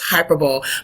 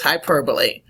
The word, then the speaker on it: hyperbole: as my husband says hyperbowl but do not say hyperbowl that's not how you say it is not hyperb is hyperbole you better not come to